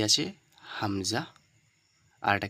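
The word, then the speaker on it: ه: হল হামজা আর এটা কি হা একদম ঠান্ডা একদম নরমাল কোন ভারি নেই কোন গোল মতলব বেশি মাখরাজ একদম টেনে বের করা কোন বিষয় নেই এখানে বুঝতে পেরেছেন তাহলে হামজা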